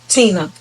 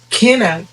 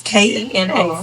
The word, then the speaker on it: Kena: someone is if I tell them my name and they repeated Tina. Older people could never say Kina. But if they would have pronounced it Kena, it wouldn't have been a confusion because Kena and Tina. Totally different.